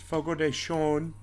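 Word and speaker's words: Fogo de Chão: i see we took our employees out to fogo de chao it's actually pronounced fogo deshone and um it's where they bring you all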